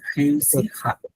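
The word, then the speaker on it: réussira: হেউসি খা, উচ্চারণটা হচ্ছে হেউসি খা।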